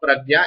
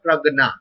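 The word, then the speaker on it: प्रज्ञा: You spoke pragya. It's okay. It can be pronounced as pragya or pragna.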